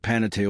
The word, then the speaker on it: Panettiere: baker in Italian, and is commonly mispronounced by fans who never quite land on the correct 4-syllable rhythm. There is another side of Panettiere almost entirely missing from